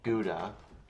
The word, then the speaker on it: gouda: Um, I've already made kha or I guess, you know, gouda. I think the Dutch pronounce it as ka though.